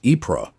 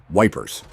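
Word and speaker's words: Ypres: Among the most famous was the Wipers Times, created by British soldiers stationed near the Belgian town of Epra, a name they humorously pronounced as Wipers.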